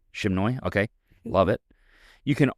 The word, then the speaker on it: Sri Chinmoy: Sri Chinmoy. Shimnoy?